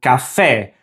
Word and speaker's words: café: So these should be pronounced queso and café with that short E sound for the E.